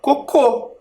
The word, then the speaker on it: cocô: acento coco com acento o som ele fica mais forte na sílaba em que existe o acento Então não é mais coco ali nas plaquinhas a palavra é cocô cocô o som mais forte está na última sílaba Então ela é uma oxítona então a palavra coco